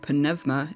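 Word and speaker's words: πνεῦμα: moving on to Numa I came to find out that this word is actually pronounced more like pvma in Greek so I'll be going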